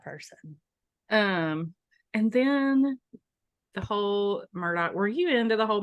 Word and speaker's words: Murdaugh: So Alec Murdaugh, which is not at all how you think his name is pronounced when you see it written, but that's how he pronounces it. Alec Murdaugh was convicted of murdering